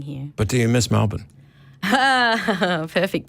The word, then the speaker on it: Melbourne: But do you miss Melbourne? Perfect pronunciation.